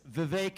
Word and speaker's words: Vivek: name is Vivek ramaswami it's Vivek it rhymes with cake as some of you